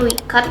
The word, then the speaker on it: WCKD: Biasanya di sini aku pakai yang Wicked, WCKD bacanya Wicked gitu.